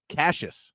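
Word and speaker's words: Cashis: And uh Cashes, I like that name, too. Cashes as well. Cash is spelled C A S H I S.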